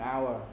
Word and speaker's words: hour: our we don't pronounce we don't pronounce h there okay you see that yeah so that's why we use an hour not a hour all